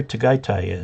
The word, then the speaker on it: Tagaytay: I'm not sure where Tagaytay is. And I believe that's the correct pronunciation. AY is pronounced I in Tagalog.